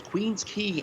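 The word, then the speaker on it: Queens Quay: that absolutely i'll uh i know how to properly pronounce queen's key and strawn that's like extraction yeah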